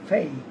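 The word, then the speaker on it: pay: ওয়াই ফেই ফেই ফেই আমরা পেই বলবো না আমরা বলবো ফেই ফেই ফেই I will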